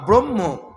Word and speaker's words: ব্রহ্ম: তারণ করবে উদ্ধার করবে এই ব্রহ্ম নাম ব্রহ্ম ব্রহ্মা নয় ব্রহ্ম এখানে আমাদের বুঝতে হবে ব্রহ্মা হচ্ছেন জগৎ সৃষ্টি করেছিলেন কিন্তু ব্রহ্ম শব্দ হচ্ছে একমাত্র ভগবান ভগবানের নাম ব্রহ্ম।